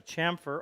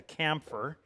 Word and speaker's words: chamfer: I'm going to cut a chamfer on the two edges. People still call this a camphor. This is spelled Chamfer, and it is pronounced chamfer. As in champion.